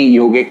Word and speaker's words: yoga: just for universal acceptability and you know uh pronunciation nada is any yogic word any indian thing is having the a